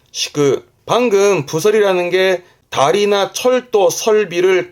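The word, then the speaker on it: 敷く: 발음은 시그 시그.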